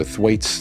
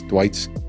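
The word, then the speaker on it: Thwaites: It's T H W AI Tes. So Thuait. Thwits.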